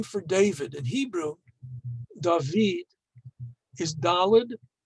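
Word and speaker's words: דוד: is dalid vav dalid which we today pronounces da vid but just with those three letters if you didn't know better you might think it was dode which means uncle so even in the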